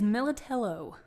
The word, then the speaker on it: Millitello: And so Millitello, it's not Millitello? It might be in Italy, but here it's Millitello.